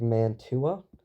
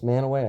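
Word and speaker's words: Mantua: Manway is spelled like this. Looks a little bit like Manua. It's manaway. I don't know why we say it that way.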